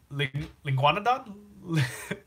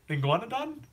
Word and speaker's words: Linguanodon: It rhymes with iguanodon, linguanodon, linguanodon."